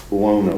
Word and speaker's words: Buono: Buono.